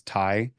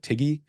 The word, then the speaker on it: Tighe: to my last name it's it's Tai but it's spelled TI i g he so it looks like Tiggy and it's uh it's